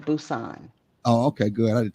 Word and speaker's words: Busan: What's how's it pronounced? Busan. Busan? Uh-huh. Like boots on. I got my boots No. on. Well, yeah, kind of close to that. Busan.